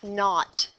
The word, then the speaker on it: naught: We read that here as h naught. And it's not N-O-T, it's N-A-U-G-H-T, naught.